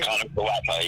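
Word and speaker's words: Kiner-Falefa: Isaiah Connor Falefa. Yeah, Connor Falefa. Isaiah. Joey Gallo, Esteban Florio. Yes, and they also had Florio in there, and Joey Gallo, and Esteban Florio, and Isaiah Connor Falefa.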